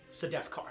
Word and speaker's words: Sedefkar: It is the Sedefkar simulacrum, Sedefkar. Sedefkar. Sedefkar. And how does that pronounced? Sedefkar. Sedefkar, okay.